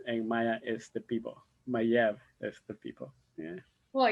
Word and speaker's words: Maya: Uh, in the Mayan world, the Maya is actually a mispronounced word from the actual word that is Mayev, which means people.